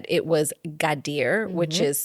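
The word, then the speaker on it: Gadir: Um, officially prior to being called uh, Kadis, C A D I Z, it was Gadier, which is spelled G A D I R.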